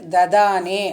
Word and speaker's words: ததானே: First ததானே அப்படின்னு உச்சரிக்கணும். தன்னு போடுறதுனால ததா சொல்லக்கூடாது, ததா மூணாவது த சொல்லணும்.